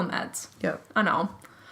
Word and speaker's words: Mads: Mads, call him Mads.